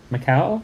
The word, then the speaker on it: Macau: Macau. I don't know how to pronounce that.